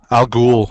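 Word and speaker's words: al Ghul: what's her how do you say her name Al ghoul Al ghoul and are you guys reading this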